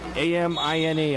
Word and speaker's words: Amine: And he's going against the number 2 seed from Detroit Catholic Central, Malik Amin, A-M-I-N-E. I believe it's pronounced Amin.